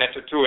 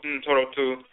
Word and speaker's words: Ntorotu: same terms, Ntoru, Ntorotu, the deities mispronounced Netoru and Netetu in ancient Kemet, but Ntoru, Ntorotu, forces in nature.